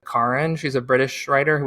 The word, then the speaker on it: Karen: is um Karen Armstrong I think she pronounces it Karin she's a British writer